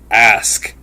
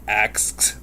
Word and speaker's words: ask: Ask. A-S-K. That's how you say it. It's not asked.